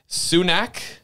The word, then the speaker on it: Sunak: They're Sunak.